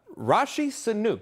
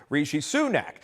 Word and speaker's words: Rishi Sunak: we'll start with this uh Rashi Sanuk do you remember that that's actually not how you pronounce it President Biden mispronounces British prime minister Rishi sunak now we all know